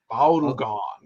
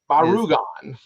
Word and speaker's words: Barugon: time is Gamera versus Barugon. Barugan. Unless I'm saying it right, or You got it. Baragon is. Barugan. I don't want people to get confused with the Baragon from the Toho company, or because You really want to wig people out.